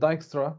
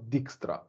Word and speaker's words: Dijkstra: write it down so it's called dijkstra not dixtra just to be clear here um this is how his name is pronounced so so diagstra algorithm